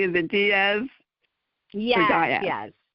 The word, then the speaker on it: Diaz: on the show oh you are welcome I pronouncing your last name correctly is it Diaz yes Diaz okay um I um I know you're in